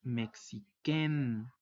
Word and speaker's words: mexicaine: Y es por ello que la pronunciación es mexiquen.